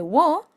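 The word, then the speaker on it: を: Ahora bien, este carácter cuando aparece como partícula en lugar de pronunciarse wo, se pronuncia simplemente o. O. O. En el caso del costado, sí, cuando aparece se pronuncia wo. Si aparece por ejemplo en una palabra de origen extranjero, sí se va a pronunciar wo.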